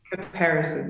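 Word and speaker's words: Caparison: Am I pronouncing this right when I say Comparison? Comparison, yes.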